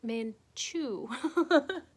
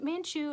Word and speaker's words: Manchu: men two uh oh i've always pronounced it wrong men men chew so um and and manchu is a it's a